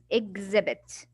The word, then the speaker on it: exhibit: The H here is silent, and X right here, I will not say X, I will say exhibit. So it's like, it will be like this. The sound of it will be exhibit. This is how you pronounce the exhibit.